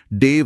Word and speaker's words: देव: मैं मानकर चल रही हूं कि इसका उच्चारण भी देव ही होगा। एकदम सही। देव स्थापना।